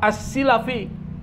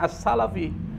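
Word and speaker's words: السلفي: 100.000 hadis alhafiz siapa asilafi jadi bacanya bukan asalafi asilafi siapa itu assilafi asilafi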